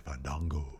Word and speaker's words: Fandango: I do like that Fandango corrected him on the pronunciation of his name. Yes. We haven't seen that in a while. I know. It's actually Fandango.